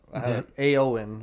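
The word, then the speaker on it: Ioan: Aoan, I guess, is how you pronounce it, which how? I don't know. It's almost like an It's like Ian, but extended.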